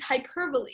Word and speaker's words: hyperbole: believe that we're going to talk about is hyperbole and this is not pronounced hyperb although I know a lot of people like